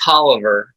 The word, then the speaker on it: Tolliver: It's pronounced Tolliver, like Oliver with a T in front of it.